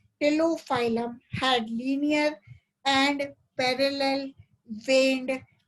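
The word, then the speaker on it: Ptilophyllum: The leaf called Tilophyllum. The leaf called Tilophyllum. P is silent. P Tilophyllum. The leaf called Tilophyllum had linear and parallel veined leaflets like those of Gemia.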